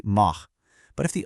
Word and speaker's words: mar: If the R is at the end of a syllable, like mar or porta, it honestly sounds exactly like the English letter H in house. Mar becomes this nice raspy mah.